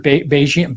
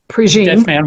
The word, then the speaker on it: Prejean: Sister Bejean Bejean Prejean Walking. Yeah, Sister Helen Prejean.